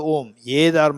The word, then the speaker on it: om: not AA is a but when combined together it sounds om not and don't ask